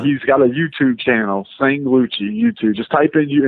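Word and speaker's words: Sanglucci: It's Sang S A N G. Okay. Sang like uh a woman sang s a n g luchi l u c c i okay you got that sangluchcci and uh he's got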